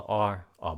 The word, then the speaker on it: our: Các bạn có nghe chữ our không? Mình đọc là or boss.